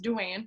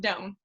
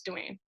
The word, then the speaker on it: Doan: I know, it's exciting, but it's pronounced Duane. It looks like Doan, but my husband's Vietnamese, so it's Duane.